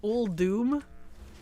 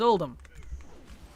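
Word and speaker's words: Uldum: it's old doom and I'm like it's oldum it's one you why is it old Doom why why Doom cuz that's how the NPC's said it in the voice acting and it's still bothers me like no that one that one I'm not going to bend on it's old them old Doom sounds silly fingers crossed for all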